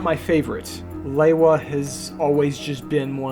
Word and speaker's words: Lewa: Originally, we just called him Lua and then after we watched all the content on the Toa's promotional CDs, that's when we settled on his name being Lewa based on how the narrator pronounced his name, Lewa, Toa of Air.